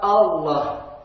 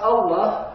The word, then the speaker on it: Allah: Juga kita perhatikan ketika mengucapkan lafaz Allah, hati-hati jangan sampai tertarik bunyi A-nya sehingga terikut tebal. Contoh, berbunyi O, bukan O tapi A. Baru setelah pengucapan A yang sempurna, masuk ke dalam lam tebal.